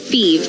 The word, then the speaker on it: Fives: Phoebe is spelled F-I-V-E-S, like the number, but pronounced Phoebe.